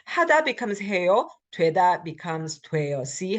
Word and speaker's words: 돼: So even if they look different, they are pronounced the same. That's why a lot of people become confused and they don't know if it should be spelled 되다, 돼, or this 돼. They sound the same.